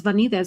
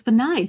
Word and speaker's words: Vanides: I'm so glad you said your last name because this whole time I thought it was Vanzas because it looks Spanish, but it's Venage.